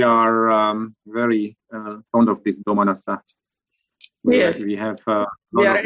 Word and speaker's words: Domanassa: Can you pronounce it? Domanassa.